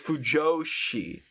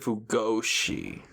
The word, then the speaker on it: Fujoshi: Oh, it's Fujoshi. What did you call him? I said Fugoshi. My bad. Potato. Potato. Yeah, I just pronounced the J like a G, you know?